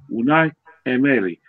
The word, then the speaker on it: Unai Emery: Actually, his name's Unai Emery. Anyway, that's how you pronounce it anyway.